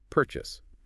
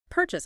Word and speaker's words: purchase: The stress is on the first syllable. Try saying it. Purchase. Pass. Purchase.